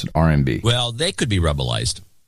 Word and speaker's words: RMB: That's how you pronounce it, RMB.